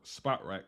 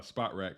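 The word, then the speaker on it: Spotrac: at spell track or spot rack however you want to pronounce it I've always pronounced it as spot uh spot rack but some people say SPO track um if you look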